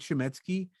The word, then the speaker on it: Chametzky: media uh and I keep my name shimy so that's a little scary sounds for a lot of people so I'll spell it out for your people is is